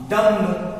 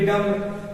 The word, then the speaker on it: dumb: डम्ब, क्या लिखा है? DUMB डम्ब, लेकिन अब यम के बाद बी आ गया तो डम्ब नहीं, डम्ब पढ़ेंगे, यहाँ पे बी साइलेंट है।